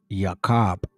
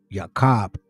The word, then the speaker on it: Jacob: The way that they pronounce Jacob is Yakob. Yakob.